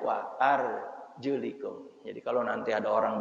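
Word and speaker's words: وَأَرْجُلِكُمْ: ketika orang pakai tewel bacanya bukan wa arjulakum wamsahu biruusikum wa arjulikum Advan Hai diikutkan tadi atap kan kepada yang diusapkan di ya ininya diusap Hai palanya ini ya diusap kemudian stylenya juga diusapkan atasnya maka bacanya War juliku Jadi kalau nanti ada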